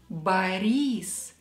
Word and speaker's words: Борис: Борис. «И» is stressed here.